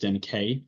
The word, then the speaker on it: Denkey: history in Kevin Denkey, pronounced Denkey for those of you. And there's an apostrophe on the E that doesn't change the pronunciation of Kevin.